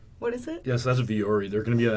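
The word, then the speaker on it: Vuori: But also the following week, I think GBM7, I always struggle to pronounce the name of the company. What is it? Yes, that's Viore.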